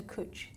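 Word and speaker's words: cwtch: good night but also cooch which means cuddle in Welsh and they but they use it for they spelled like with a W in it isn't it yes it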